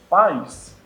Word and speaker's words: pais: O plural de pai, pais, você não pode separar, porque em pais você pronuncia o A bem, o I não.